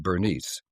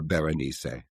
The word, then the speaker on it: Berenice: that the name is sometimes rendered as being Bernice. But that strikes me as being a bit too banal. So I aim for a compromise and call her Berenice.